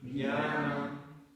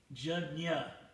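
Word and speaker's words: jñāna: Jnanam. It's actually Jnana, but everyone in India says Jnana, but Jnana is the real, Sanskrit pronunciation.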